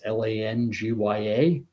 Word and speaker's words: Langya: but I'm going to call it Langia henipavirus. It's Langya.